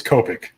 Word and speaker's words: Copic: Ben, if you talk to Adam Hughes all the time, then Yeah, it's Copic.